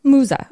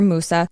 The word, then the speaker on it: Musa: it's personal name is Musa or Musa I've heard it said different ways so I sort of just say Musa because that's my English pronunciation but it is the